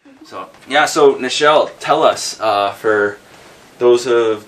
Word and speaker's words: Nichelle: A lot of people always call me Michelle, but it's Nichelle.